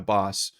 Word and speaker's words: Bos: Uh, he called it Doogards, she called it Doogards, and he referred to Gina Boss as Gina Boss with her sister present. So, I have to assume that's the right pronunciation, but if you go